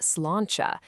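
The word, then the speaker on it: sláinte: So, the Irish way to say cheers is slante. Now, it might look a little tricky, but it's pronounced slanchcha.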